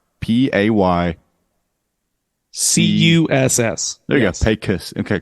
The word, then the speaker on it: Pecos: Yeah, spelled PAY-CUSS. Yep. Yeah. And I've heard a lot of it. I mean, even at that Tortuga Fest, I heard pesos.